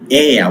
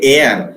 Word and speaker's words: air: Air. We say air in Indian English. We pronounce the final r sound. They never pronounce in the foreign country.